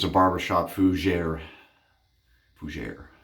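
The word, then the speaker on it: fougère: Fougere. That's why I put emphasis on that. I learned how to say it.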